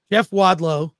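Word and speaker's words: Jeff Wadlow: mind of Jason Blum and hopefully I don't mispronounce his name when he joins us Jeff wadow is gonna be joining us did I I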